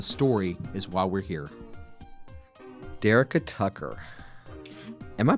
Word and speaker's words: Dyricka Tucker: Dyricka Tucker. Am I pronouncing that right?